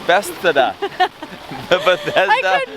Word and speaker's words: Bethesda: Bethesda. Bethesda.